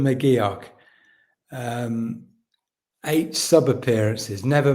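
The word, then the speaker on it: McGeouch: Um, number six is Dylan Mc Dylan Mcuch is it is that how you pronounce it? Uh, Mio. Dylan McGio.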